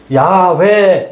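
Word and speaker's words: 야훼: 지금은 야회 야회 이것을 따라서 야회로 읽는 것이 다수 의견 이죠. 그래서 요즘 나오는 논문 같은 데는 야 회로 많이 표기 돼요.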